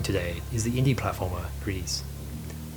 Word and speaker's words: GRIS: The game I'm reviewing today is the indie platformer GRIS. Yes, apparently that is how it's pronounced.